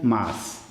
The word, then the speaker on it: mas: Só que a pronúncia, infelizmente, de Milton Nascimento, desde 1978, é mais é preciso ter força. O correto, o único correto seria mas.